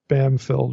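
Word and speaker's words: Bampfylde: m PF y lde I think you pronounced it bamfield or something like that it's a really good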